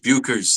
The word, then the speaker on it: Bueckers: Paige Buers.